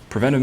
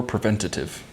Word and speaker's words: preventive: calar months all right preventive maintenance apparently you can say this word two ways you can say preventive or preventative I always feel like